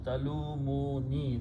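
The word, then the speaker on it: تلوموني: La talumuna, and then you put a ya at the end, which means me. Then you pronounce talumuni. That's what it is in the Quran. La talumuni, talumuni. Do not. This is talumuna, but when you pronounce, because of the ya, this is pronounced as ya, kasra.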